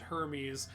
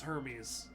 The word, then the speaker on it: Hermes: cat that we named Hermes at the vet they pronounced it Herme and we were like it's Hermes you're you're overthinking the